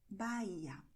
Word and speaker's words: Bahía: In Spanish, the letter H is silent, so you write it, but you do not pronounce it. You say Honduras, Bahia.